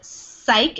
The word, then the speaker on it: psych: So that word is psych. It's like this Y has a long I sound.